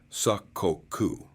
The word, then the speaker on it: sakoku: The Tokugawa shogunat grew increasingly hostile to Christianity, eventually banning it outright and finally imposing sakoku, pronounced sakoku, a policy of national seclusion that shut Japan off from most of the world for over two centuries.